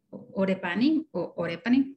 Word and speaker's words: Orepani: Empezamos ahora con Orepani, recorrígeme, ¿cómo lo pronuncio? Es Orepani, pero cualquiera de los dos está bien.